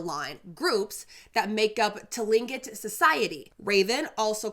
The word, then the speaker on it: Tlingit: The Tlingit, I mispronounced it the last time. The Tlingit or Tlingit are Indigenous peoples of the Pacific